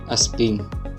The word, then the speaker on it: PNG: does not support transparency png this is pronounced aspin it stands for portable